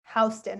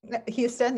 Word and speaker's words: Houston: is south of houston houston and that's how you say it houston right yeah not like this not like the city of texas houston yeah that was me